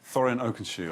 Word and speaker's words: Thorin Oakenshield: Thorin Oakenshield.